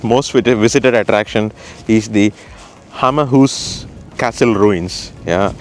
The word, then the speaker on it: Hammershus: visited attraction, is the Hammershus castle ruins. Yeah, or if you say it in English, it's Hammerhus. So it's actually spelled like hammer.